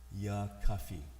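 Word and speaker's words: يا كافي: that means oh hitler yakafi just like coffee that we drink except it's you know that's how you pronounce it the remedy and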